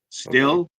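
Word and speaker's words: Stihl: power tools yeah uh steel chainsaw is pronounced steel chainsaw Jared still still that's what I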